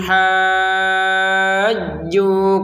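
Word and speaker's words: حَاجُّوكَ: Nah, di sini fa in haj, di sini kita bacanya dengan apa? Dengan jelas. Fa in ha ini dengan jelas. Kemudian ada harokat bendera kita panjangkan. 6 harokat ya, karena di depannya ada tasydid nih. Fa in hajju, begitu cara bacanya ya, dipanjangkan 6 harokat, kemudian jimnya ditekan.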